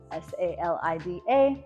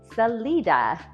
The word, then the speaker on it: Salida: So if you're coming from a Spanish-speaking background, or even just a general knowledge of how Spanish works, your brain's probably saying to you, Salida, but around here it's pronounced Salida. So those with the Spanish-speaking background, of course, are going to want to say Salida, but yeah, it's Salida. Hard I, accent on the middle syllable, and yes, people will